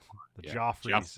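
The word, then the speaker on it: Geoffrey: Jeffrey Lewis with a it's spelled in the the old English way g e o f oh okay joffre he almost like steals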